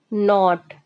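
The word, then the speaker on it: knot: मतलब होता है के एन ओटी के बड साइलेंट हो जाएगा एन ओटी नॉट नॉट मीस होता है गांठ नाट का मतलब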